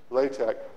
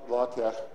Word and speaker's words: LaTeX: Now, let's talk a bit about tech and LaTeX. Earlier, when I first started, most people pronouncing it LaTeX, but lately I noticed people have been saying more LaTeX, so I've kind of shifted to that.